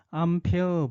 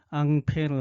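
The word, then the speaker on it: Ampère: 이거의 반대는 뭐냐면 맥스웰 암페어 법칙입니다. 암페어가 프랑스 사람이기 때문에 앙페르 하는데 영어식 발음은 암페어죠. 맥스웰 암페어 법칙은 반대입니다.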